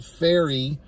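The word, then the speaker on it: Pharry: uh early on there's a character named Taylor faery that's how it's pronounced p h a r r y so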